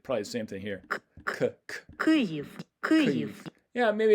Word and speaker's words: Kyiv: So first of all, here's one of my wife's pronunciations of the Ukrainian pronunciation of the name of the city. Kyiv. And I'll turn it up a bit. Kyiv.